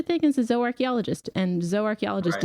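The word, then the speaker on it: zooarchaeologist: Um there is such a thing as a zoarchchaeologist and zoarchchaeologist is zoo archaeologist but pronounced in the Latin way.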